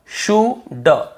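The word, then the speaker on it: should: उसे नहीं पढ़ना है कुड वल्ड शुल्ड नहीं पढ़ना है केवल कुड वु ड शु ड कुड वुड शुड यहां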